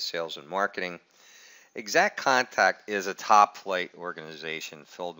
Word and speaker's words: IXACT Contact: And by the way, it is pronounced exact contact, just like you would normally say the word exact.